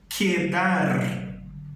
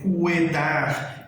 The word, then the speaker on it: quedar: O verbo ficar em espanhol seria o verbo quedar, ok? Eu vou falar normal isso. Se eu quiser utilizar a palavra aqui, também perceba que permanece o som que a gente já está familiarizado. Beleza, André, então quando que eu vou falar esse cu aí, já que eu não vou falar cuedar, eu não vou falar acuir, né?